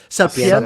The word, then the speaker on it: Sapienza: How do you pronounce it? Sapienza.